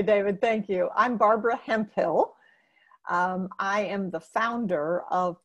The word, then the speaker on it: Hemphill: you do okay David thank you I'm Barbara Hemphill I am the founder of productive environment Institute